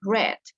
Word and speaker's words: read: of have had read the written word is exactly the same but the pronunciation is different ret okay but okay get